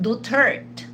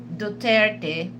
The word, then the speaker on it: Duterte: know the former president is not dutert. Okay, it's dutert. So for those you know for those 30 uh supporters you know if you have group then you know uh try to tell you know the the vice president that don't allow any anyone to disrespect former president Rodrigo Duterte to say his last name instead of Duterte they keep saying Dutert we don't have President Dutert, we had a president Rodrigo Roua Duterte cuz for me is